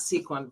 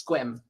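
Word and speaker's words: Sequim: It's not sequin. It's squim. Yeah, So the E is silent.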